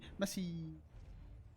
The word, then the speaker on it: Messie: think we mispronounced I I mostly mispronounced Messi because he has four e's in there so you should be messy group but otherwise I think